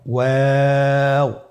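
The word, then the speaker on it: واو: আমরা স্ক্রিনে দেখতে পাচ্ছি ওয়াও হরফটি উচ্চারণ ক্ষেত্রে বারিক হবে এবং 3 আলিফ টেনে পড়তে হবে। আপনারা আমার সাথে বলুন ওয়াও ওয়াও। 2 ঠোঁট গোল করে মাঝখানে ফাঁক রেখে হরফটি উচ্চারণ করতে হবে।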